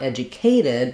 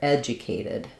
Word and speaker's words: educated: But in educated, the correct pronunciation, the correct syllable stress is to stress the ed syllable. So it's not educated, but rather educated.